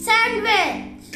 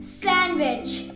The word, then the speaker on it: sandwich: this word wday wday sandwich no you're wrong again it's sandwich the D is also silent here sandwich knock knock you're